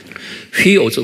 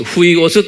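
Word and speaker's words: υἱός: 휘오스, 후이오스 또는 휘오스라고 휘를 후이라고 제가 가끔가다 여러분들이 말하죠. 정확한 발음은 휘오스. 그런데 이제 후이오스 쉽게 그냥 이렇게 하세요.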